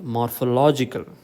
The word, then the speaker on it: morphological: morphology on character okay morphology but morphological stress falls on law okay biology biological philosophy philosophical morphology morphological there are words which